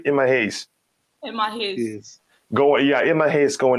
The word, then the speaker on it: Emma Hayes: Emma Hayes, did I pronounce her name right? Emma Hayes.